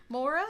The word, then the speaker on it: Maura: cool um what's her name I'm uh Maura Mora how do you spell that m-a-u-r-a the way Mora is spelled rat